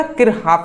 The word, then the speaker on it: Kirchhoff: किरकाफ। ठीक है ना? किरहाफ नाम है जी।